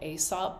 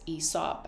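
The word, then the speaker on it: Aesop: I think you PR I always pronounce this brand asop but I think it's ESOP actually um so I like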